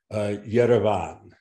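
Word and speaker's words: Երևան: The V sound it's between the lips, so it's similar to the Georgian V. So you would say, for example, Yerevan.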